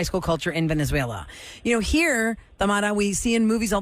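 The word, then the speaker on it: Thamara: Tamara, yeah.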